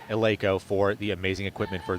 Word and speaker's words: Eleiko: And yes, ladies and gentlemen, that is how you pronounce it, Eleiko, for the amazing equipment for this meet.